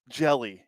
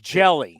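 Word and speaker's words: Hjelle: clear my mind sean jelly is the guy that was jelly jelly yeah as in jellyfish it's spelled h-j-e-l-l-e but it's pronounced jelly he is uh 6 11 228 baseball references so 611.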